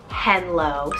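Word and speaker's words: Henlow: it still has that edge is the name henlo spelled h-e-n-l-o-w henlo this one I've kind of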